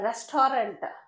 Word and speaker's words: restaurant: right see and restaurant it is not a restaurant that is wrong pronunciation restant restaurant okay now he's telling